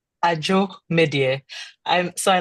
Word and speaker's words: Adzo: her name it's a joke media so I like because in In DZ is pronounced like a J because they don't have the J letter.